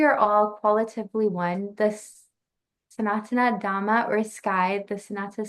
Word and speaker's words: Sanatana: Sanatana.